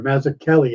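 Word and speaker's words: Mazzucchelli: I think of like David mazzachelli or Mazza Kelly I believe it's actually he pronounces it with a hard k oh like Matt matzo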